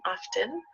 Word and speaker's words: often: to usually is often often has a letter t which sometimes we pronounce and sometimes we don't some people say it some people don't so if you hear often and often it's the same it's the same word often means a little